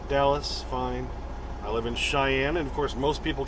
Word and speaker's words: Cheyenne: fine i live in cheyenne and of course most people can't spell that c-h-e-y-e-n-n-e which is more really sounds like shay any but it's cheyenne okay went off a